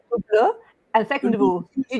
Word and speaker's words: Hublot: first of all, you do not pronounce the H, Hublot, and second of all, you do not buy an Hublot.